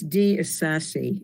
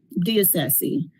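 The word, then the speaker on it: DeIsasi: I believe it's D. Isasi. It's D-E capital I-S-A-S-I. Diocese.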